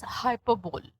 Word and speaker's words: hyperbole: Now, hyperbole is also at times pronounced as hyperbole.